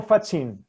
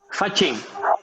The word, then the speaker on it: Faccin: Vocês pronunciam Facchino ou Fachin? Fachin.